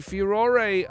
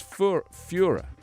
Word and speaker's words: furor: See, furore, I would agree if we were in Europe, but I think here in America they say furor. Because we spell it differently. You know, we have like an accent in there and a few extra letters. But I think the American way is Führer, as in like Hitler. Responding to the furore over